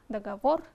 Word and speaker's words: договор: Помните, вор, договор.